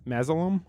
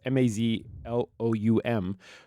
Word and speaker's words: Mazloum: The new president of Disneyland, Thomas Mazalum, I believe is how you say it. I'm not sure. That could be wrong. It's Mazloum, who is the new president of Disneyland.